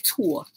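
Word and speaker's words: tulle: I just named it Tulu, y'all. I've been calling this Tulu forever. And I'm still saying Tulu. It's Tua. Okay, somebody just correct me. Because it's spelled T-U-L-L-E. So I just said it's Tulu.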